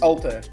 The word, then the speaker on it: Altair: Yeah, it's Altair. you're in Finland and you don't get how people say the way that it's spelled? You didn't pronounce it the way that it's spelled. It's Altair. Whatever, Altair. What's that sound you're making at the end? Ir. I-R. Ir. Altair. That sounds like an H. Hmm. I guess it's the Portuguese pronunciation that might throw you off. Or the way that we pronounce IR, we say IR.